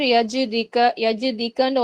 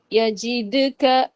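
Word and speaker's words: يجدك: அது நாவுக்கு ஈஸின்றதுனால நிறைய பேர் யஜிதிக்கன்னு ஓதிருவோம். அப்படி ஓதக்கூடாது. அலம் யஜிது யஜிதுக அப்படி ஓதுங்க. அலம் யஜிதுக.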